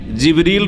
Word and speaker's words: জিবরিল: তাহলে জিব্রাইল আলাইহিস সালামের নাম কোরআনে কারিমে জিবরিল রয়েছে, যেটা অন্য উচ্চারণে জিব্রাইল, অন্য কেরাতে জিব্রাইলও, জিবরিল, জিব্রাইল আর আর রুহ,